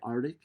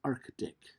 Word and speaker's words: Arctic: how it's spelled and listen to how it's pronounced many people say arctic no it's not arctic it's arctic same for antarctic god has a c double